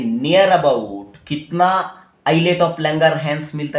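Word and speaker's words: islet: ये इसको मैंने बताया आइलेट ऑफ लैंगरहैंस, इसका स्पेलिंग एक्चुअली ऐसा है, इजलेट, आइलेट ऑफ लैंगरहैंस, ठीक है।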